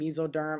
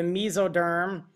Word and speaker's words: mesoderm: The three germ layers in development are called the ectoderm, mesoderm, and endoderm. It is the ectoderm that will give rise to nervous tissue and epithelial tissue. The mesoderm, or mesoderm, pronounced either way, will give rise to muscle and connective tissue.